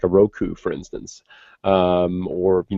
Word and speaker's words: Roku: it's I have a Roku I have a Roku which you know I which I used to think was called pronounced rocku uh but but I